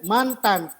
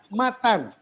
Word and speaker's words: matan: ini kedengaranjahid Pak Ayub Pak AKR menyebutnya mantan Matan ya bukan mantan tapi Matan